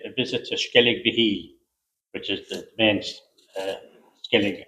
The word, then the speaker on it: Skellig Michael: But when I was on Skellig Michael, Skellig Michael, to give it its correct pronunciation, I was so inspired